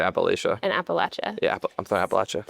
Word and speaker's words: Appalachia: Somebody said it was like a north versus like southwest pronunciation. I don't know how true that is, but yeah, I mean, I think the people that say Appalachia are either like up in the Northeast or they're not from there. Sure. But if you go to the region, you'll never hear anybody say it like that way.